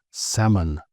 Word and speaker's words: salmon: Firstly, we completely ignore the L and we turn the O into this sort of H sound. So that's actually pronounced salmon.